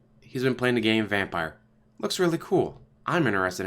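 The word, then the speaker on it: Vampyr: they said everyone yes spelled with a y but it's pronounced vampire and he's off how's it been I was vampeer now it's pronounced vampire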